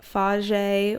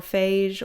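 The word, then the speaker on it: Fage: So that is something I will do, or I will do a phage or phage, or however you pronounce it, F-A-G-E, lactose-free yogurt bowl with berries on it and some granola.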